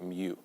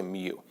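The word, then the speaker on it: μ: how you pronounce it mu because some people say mu like a cow but i say mew all right and um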